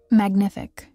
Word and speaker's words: Magnific: It's pronounced Magnific.